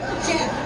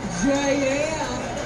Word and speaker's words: Jeff: She said, because, ma'am, in Lansing, Michigan, we pronounce the name Jeff with one syllable. Jeff. Not J-L. J-L.